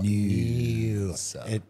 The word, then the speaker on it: Noosa: More Noosa. It needs an N-E-W-S-A. If they could spell it properly, I'd be so much happier with them.